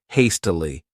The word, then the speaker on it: hastily: The next adverb is hastily. This word has three syllables and the stress is on that first syllable.